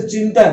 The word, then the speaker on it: चिंतन: तो च के ऊपर ई की मात्रा है, इसलिए, लेकिन त के पहले उच्चारण कर रही है चिंतन में, इसलिए ना आएगा।